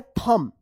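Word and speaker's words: thumb: थंब। यहां पे बी जो है ना साइलेंट।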